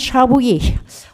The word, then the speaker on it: Chabouillat: Or, moi, connaissant l'accent bourguignon, pour avoir une grand-mère bourguignonne, Chabouillat, ça se prononce Chabouillet en français.